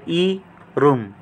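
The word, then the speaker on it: 이름: gitna ng dalawang bowels R R po ito sun po yung nasa ilalim Tapos po yung M yung square po m ang bigas po ay e room e room e room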